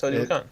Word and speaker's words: Teotihuacan: Is that actually how it's pronounced? Teotihuacan.